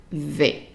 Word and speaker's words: vais: The AI in French is always pronounced as an A. So there are so many combination letters that are pronounced A, and one of them is the AI. So anytime you see AI, then it's an A sound.